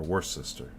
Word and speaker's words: Worcester: And this is pronounced Worcester, not Worcester. Or Worcester. It's Worcester.